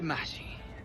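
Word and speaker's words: محشي: We have mahshi. Yeah, it's pronounced like this.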